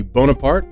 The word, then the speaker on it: Bonaparte: this guy's name because I honestly for a long time thought it was like Bonaparte right it's it's it's not it's just it's just bonapart um he was born